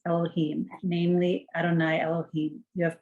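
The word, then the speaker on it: יהוה: Aleph, Dalet, Nun, Yud, and then Yud, He, Vav, He. which we pronounce Elohim, namely Adonai Elohim, you have begun.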